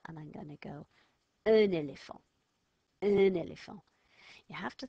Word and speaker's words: un éléphant: But I'm not going to go un because it's got a vowel after it. I'm going to sound that silent letter, and I'm going to go un éléphant, un éléphant.